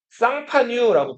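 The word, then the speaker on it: Champagne: 이 샬롱은 지금은 뭐라고 부르냐면 프랑스에서 쌍파뉴라고 불러요. 뭐라고요? 쌍파뉴. 쌍파뉴 영어로 읽으면 뭐라고 읽을까요? 이것도 마시는 건데. 하긴 샴페인이라고.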